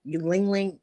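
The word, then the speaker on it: ylang-ylang: put that on and get that aromatherapy going Ling Ling it's spelled y-l-a-n-g-y-l-a-n-g really good for increasing the libido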